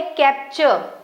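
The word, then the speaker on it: capture: और ये लिखा हुआ है कैप्चर के सी ए पी टी यू आर ई टी है बट स्टिल हम इसे च के जैसे पढ़ रहे हैं।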